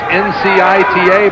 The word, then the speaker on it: Ncita: Don't be fooled by the spelling. It's N-C-I-T-A, but it is pronounced Ncita.